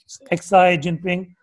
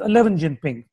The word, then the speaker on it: Xi Jinping: Chinese Premier Xi Jinping, Xi Jinping, she pronounced his name as 11 Jinping.